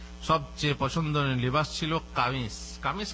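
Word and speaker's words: ثوب: আসলে তোপ না, সৌব। সৌব, এটা হচ্ছে সৌব।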